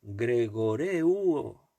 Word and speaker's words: gregoreuo: Velad es una palabra griega, en griego la palabra es gregoreuo, con acento en la U penúltima, gregoreuo.